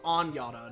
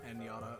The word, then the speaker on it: Anyada: Oh, Anyada, not Enyada.